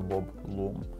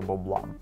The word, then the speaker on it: Bob Lum: Був собі такий американський ножовий дизайнер Боб Лум, або, як його кажуть, що правильно казати, Боб Лам. Ну, насправді, американці вимовляють щось середнє. Боб Лам. Боб Лам. Да, тобто там УА таке звучить. Але чогось на наших просторах його люмом називають, наче люмени якісь, я не знаю. Це неправильно, друзі.